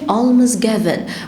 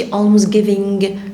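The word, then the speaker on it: almsgiving: alms given. ما ننطقش الجي لحد الاخر، ما نقولش alms giving، لا alms given. لساني عند اسناني اللي تحت واقف كده. alms given.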